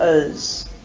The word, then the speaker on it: as: Can you hear the way that I'm pronouncing as reduced to is?